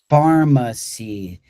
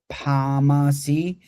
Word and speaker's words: pharmacy: Doctor sick blood pharmacy. Some of you might want to pronounce this like py, but it's similar to phone. PH for phone sounds like an F, right?